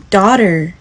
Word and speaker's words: daughter: 女儿 daughter，医生 doctorDoctor，他们两个其